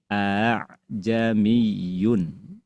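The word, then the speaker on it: أأعجمي: hamzah yang kedua dibaca tashil melemah ya. Yang asalnya aa jadi a'jamiyun. Ajamiyun.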